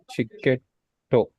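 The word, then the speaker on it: チケット: Chiketto. Chiketto. Chiketto. Yes. Chiketto. We don't pronounce it as tsu, right? It's small. So chiketto.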